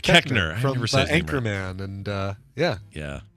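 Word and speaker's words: Koechner: oh here it is David kochner or cochner have you say his name uh oh David keckner Anchorman and uh yeah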